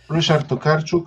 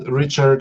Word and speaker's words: Ryszard Tokarczuk: Hello, Ryszard Tokarczuk in my native pronunciation, Richard for the ease of communication.